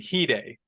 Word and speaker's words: Hide: Kaneki and Hide. His name is spelled Hyde, but it's pronounced Hide.